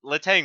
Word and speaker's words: Letang: It's Letang. Yeah, It Letang. has to be.